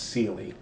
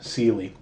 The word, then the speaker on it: Ceely: uh was spelled c-e-l-i-a but appalachian style was always pronounced celie today we probably call her celia but as far as i can tell her name was always pronounced sealy so it's often rendered